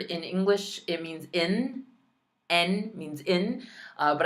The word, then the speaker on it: en: En means in. But I hear every possible pronunciation for it. I hear on. Like there's some French pronunciations. It's en. En. Enero.